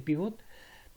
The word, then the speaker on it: pivot: depende de los libros en inglés se dice pívot se escribe pívot y en en español puedes llegar al pivot o pivote bueno que es un